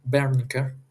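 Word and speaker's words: Wernicke: en el área de Berniker con V porque es un nombre alemán. En alemán la W se pronuncia con V.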